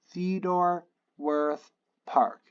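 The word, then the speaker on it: Theodore Wirth Park: So then, okay, Theodore Worth Park.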